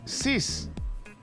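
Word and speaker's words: six: 6 en francés te recuerdas 6 se dice sis en francés y se escribe s y x ahora vamos a pasar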